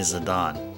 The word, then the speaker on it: Zidane: It was brought to light that it's actually Zidane. It's actually Zidane. It's actually very close to his Japanese name, which is Jitan.